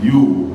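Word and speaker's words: HU: Now, the way you pronounce it is you.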